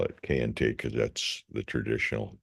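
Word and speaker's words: Kayenta: town of K uh some people call it Cay but I'll call it cayente because that's the traditional pronunciation if we get a vintage map uh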